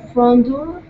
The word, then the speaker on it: front door: front door okay so our stress is going to be here on door okay so instead of